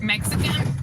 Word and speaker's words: Mexican: Yeah, darling, but you guys in the US, in American language, I guess, is pronounced Mexican because that's how you pronounce the X. But here in Mexico, we pronounce it as a J.